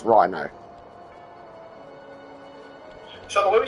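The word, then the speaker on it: Ryno: It is spelled R-Y-N-O. Yes. That's Rhino.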